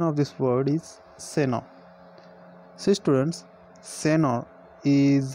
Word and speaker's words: Senor: The pronunciation of this word is Seno.